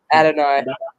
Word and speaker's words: Adonai: Adonai. That's how they say it.